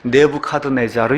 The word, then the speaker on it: 네부카드네자르: 갓네 살만 기억하시면 돼요 느브갓네살 이것은 세상 역사에도 나오고 세상의 모든 사람들이다는 그와 같은 이름 아마 우리나라 그 역사책에 가서 세계사를 배우게 될 때 느브갓네살 나오지 않고 네부카드네자르 이렇게 돼 있어요 네부카드네자르 영어식 그 발음을 따라서 이게 교회에서는 이걸 브 사